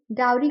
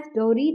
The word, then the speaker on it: dowry: यहां पर आप देखेंगे डरी को टू सिलेबल्स में डिवाइड किया है और उसको एज डाउ और री प्रोनाउंस किया है एज डोरी नहीं प्रोनाउंस किया है यह आपको याद रखना है कि आपको फर्स्ट सिलेबल ठीक से प्रोनाउंस करना है सेकंड सिलेबल की प्रोनंसिएशन एज इट इज रहेगी द सेकंड वन इज